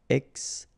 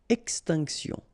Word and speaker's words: extinction: Okay, remember, T-I-O-N, sion. Extinction. Extinction.